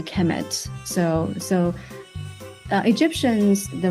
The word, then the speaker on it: Kemet: uh it will be the noun will be pronounced a Kemet so so uh egyptions